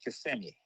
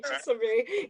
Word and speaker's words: Kissimmee: We pronounce it Kissimmee. I know. You know what's funny? Someone just corrected me on that too. You can tell when someone's not from the area when they say Kissimmee.